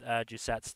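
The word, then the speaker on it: 寿雪: Jusetsu is the Japanese pronunciation.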